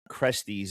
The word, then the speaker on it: Cresties: This is Sandia Crusties. If I'm saying that wrong, I'm sorry, sir. Nope. You got it, man. That's it. All right. That's what's up, Sandia. So, cool. Yes, you said it right.